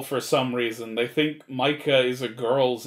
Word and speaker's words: Micah: some reason they think micah is a girl's name usually the way they mispronounce it though is makaya which that's a little more understandable than mika mika is just wrong